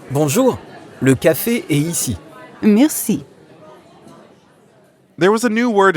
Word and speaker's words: merci: Merci. That's right. Merci means thank you. Merci. Merci. Merci has a French R in the middle, so we have to use our throat a bit.